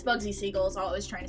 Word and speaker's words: Siegel: that his name was seagal it was pronounced bugsy seagal um but it's not it's pronounced the way that it's spelled which is seagull yeah i showed that